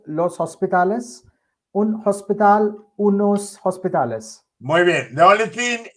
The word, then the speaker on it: hospital: It's going to put together the end of L is going to join to O without H.